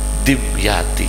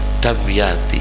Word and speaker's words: Dimyati: hafizul hadis adzab Yati orang Jawa bacanya Dimyati Hai sebetulnya damyanti Hai tapi sudah terlanjur Hai jelly Hai Adel